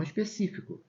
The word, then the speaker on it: específico: Especifico e não específico, tá? Específico é essa daqui, ó. Específico, tá vendo? Todas essas palavras existem. A simples transformação da sílaba tônica muda o sentido da palavra.